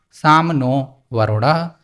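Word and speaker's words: शं नो वरुणः: The emblem of the Indian Navy contains a motto, Sam no Varunah, pronounced Sam no Varunah, which means be auspicious to us, O Varun.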